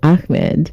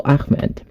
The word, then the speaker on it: Ahmad: the floor with Amed so many people are struggling to pronounce my name here in the US my name is spelled as a h m a d so Amed so originally I'm from